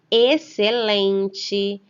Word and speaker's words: excelente: Nessas palavras, o X aparece seguido da letra C. Porém, ao ler, repetir e pronunciar essas palavras, só conseguimos perceber o som da letra C. Nesses casos, o X não tem nenhum valor fonético, ou seja, ele não apresenta nenhum som.